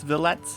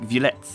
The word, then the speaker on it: Violette: how to pronounce violette, because clearly in my good old American English, that word right there is violet. But because they specifically added the ETTE ending, the word is now French, which would make the pronunciation more like violette.